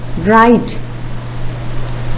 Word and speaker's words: write: Then look at these words. The first one, answer. Next, write. Next, wrap. There, the letter W is silent.